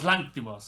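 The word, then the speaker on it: Lanthimos: And I will say going into this, uh, this is another film by Yorgos Lanos, right? That's how you say it. Yorgos Lanimos.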